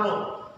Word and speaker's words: rho: Bacanya ini adalah rho.